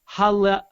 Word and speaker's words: Haleakala: John Kenny says, it's pronounced Haleakala. Haleakala.